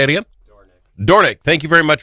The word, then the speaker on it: Dornink: He is Senator Jean Dorknik. Am I pronouncing that correctly, sir? Dornick. Say it again. Dornick.